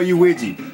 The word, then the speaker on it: Luigi: u i GI I that's how you spell uui and I know I'm saying it right because